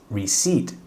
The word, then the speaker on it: receipt: here is your receipt คำ สุด ท้าย ออก เสียง ยาก นิด นึง นะ ครับ reat receipt ตัว P มี กรัน ด้วย ไม่ ได้ ออก เสียง here is your receipt